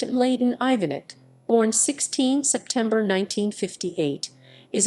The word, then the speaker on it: Ivanić: and laden ivanic serbian cyrillic m laden ivanich pronounced leyden ivanit born 16 september 1958 is a bosnian serb